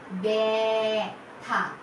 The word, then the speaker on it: ব্যথা: এ শব্দ আনতে হবে। এ, ব্যথা, ব্যথা। বয়ের সাথে একটা এ যুক্ত হচ্ছে আর থা।